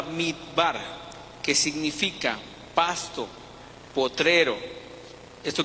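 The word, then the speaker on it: מדבר: La palabra viene del hebreo mikbar, perdónenme mi hebreo, ¿no? O sea, mi pronunciación en francés está mejor, pero no estamos hablando en francés. Desierto es la palabra midbar, que significa pasto, potrero.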